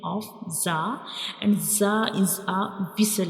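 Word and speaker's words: زاي: So this is the pronunciation of za, and za is a whistle letter. When we pronounce za, the whistle-like sound comes.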